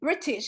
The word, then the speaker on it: breeches: knee the later English word British or yeah British is pronounced b-r-i-t-c-h-e-s British the English word for breaches